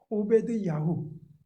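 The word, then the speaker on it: עבדיהו: 본문에 등장하는 오마디 신화입니다 오바는 정확하게 발 발음하면 오베드 야후 그러니까 오베드 종이란 뜻이고요 야호는 여호와 그니까 여호와의 종이란 뜻이에요 오바는 자신의 이름처럼 여호와를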